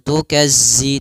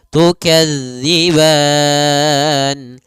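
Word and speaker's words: تُكَذِّبَانِ: fabiayyi alaikuma kemudian tukadziban hati-hati pada lafal tukadziban di sini jangan dibaca dengan za jangan tukazzi tapi tukazzib panjang ban boleh dua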